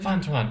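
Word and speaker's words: 饭团: Fan tuan. Ah, I remember tuan. I forgot fan. Oh, of course, rice. I should have remembered that. That's the obvious part. 饭团. Fan tuan.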